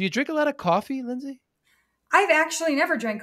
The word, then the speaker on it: Coffey: uh yeah with John coffee I'm like my name's uh coffe like the drink but spelled different because it's spelled ey but um I also forget